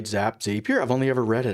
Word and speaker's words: Zapier: Zapier. I've only ever read it. I've never heard it pronounced. Zapier. It's got to be Zapier because it's zappy.